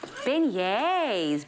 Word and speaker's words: beignets: one uh princess and she makes beignets so that's how i know how to pronounce the book thank you otherwise thank you to disney for teaching you yeah teaching us and the rest of zanzi that it is called beignets so just think